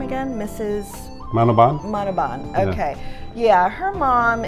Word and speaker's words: Manoban: How do you pronounce her name again? Mrs. Manoban?